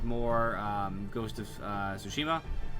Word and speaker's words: Tsushima: um ghost of uh sushima um sushima that's that's the way you pronounce it uh I appreciate you